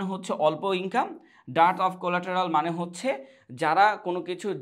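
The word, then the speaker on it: collateral: এই যে dirt of কোলাটেরাল। আচ্ছা, এটার উচ্চারণ কিন্তু কোলাটেরাল না, হ্যাঁ, এটার উচ্চারণ হচ্ছে কোলাটা, এটার উচ্চারণ কোলাটা। আপনি যদি একটু সার্চ দিয়ে দেখবেন কোলাটা উচ্চারণ হয়, বাট এটা আমরা বলি যে কোলাটেরাল উচ্চারণ।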